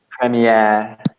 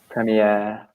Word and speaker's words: premiere: And premiere. Premiere. Remember the E on the end to the spelling.